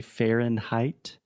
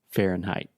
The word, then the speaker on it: Fahrenheit: So when you say in, like I am in the kitchen, it's the same thing, Fahren. Can you say that for me? Fahrenheit.